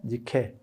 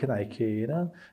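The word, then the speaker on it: Nike: 그게 밀로에 비노스 그다음에 어 저 모나리자 그다음에 사모스트라케섬의 니케에 나이키입니다. 나이키. 예. 나이키는 영어 발음 때문에 나오는 거예요.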